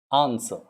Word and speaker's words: answer: warrant answer on sir answer these are silent w silent on sir answer w silent then you have sword